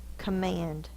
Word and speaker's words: command: don't say say command that's not the long o it's a command it's actually the schah because it's in the unaccented syllable because if our dog